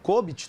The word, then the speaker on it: COBIT: da área de software mas também temos o cobit Tá certo a pronúncia cobit sim tá certo a pronúncia e